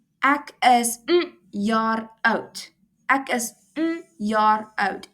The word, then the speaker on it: jaar: It's jaar, not jar, because in Afrikaans the J is pronounced as a yuh.